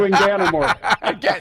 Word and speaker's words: Inganamort: You're going to have to do it phonetically. I mean, anything it rhymes with is not anything I want to say. So let's just stick to Inganamort. Inganamort. If you say it quickly, that's usually my thing. You get it right once, and then we just say.